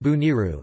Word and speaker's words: Boneiru: Bonaire, pronounced or Dutch Bonaire, pronounced Bo-N-R, Papiamento, Boniru, pronounced Buniru, is an island in the Leeward Antilles in the Caribbean Sea.